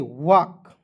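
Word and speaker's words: walk: डब्ल्यू ए एल के वाक। अब कहेंगे सर वाल के क्यों नहीं पढ़ेंगे? देखिए एल को यहां पे साइलेंट रखते हैं।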